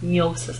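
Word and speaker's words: gnosis: love and nosis nosis nosis is how it's pronounced um so Agape is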